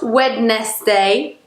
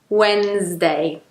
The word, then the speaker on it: Wednesday: Not wedst day. Wednesday. Not wedst day. Wednesday. So that's it for this pronunciation lesson.